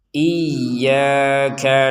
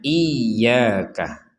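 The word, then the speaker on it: إياك: Jadi kita harus membacanya iyaka. Sekali lagi iyaka. Jangan sampai dibaca sekedar iyaka. Iyaka. Kalau cuman iyaka berarti tidak ada tanda tasdidnya.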